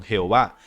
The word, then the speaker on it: Jehová: Las dos pronunciaciones más comunes son Jehová, una pronunciación latina utilizada desde el siglo XVI, y Yahvé, un intento de pronunciar la palabra según una interpretación hebrea más literal.